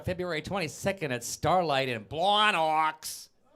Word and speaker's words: Blawnox: 22nd at Starlight in Blawnox. But only if you say it like that. You have to say Blawnox. If you ain't say Blawnox, you're doing it wrong.